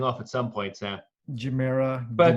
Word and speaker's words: Gemera: And it's pronounced Gemera. I thought it would be with a hard G, but no, it's a soft G.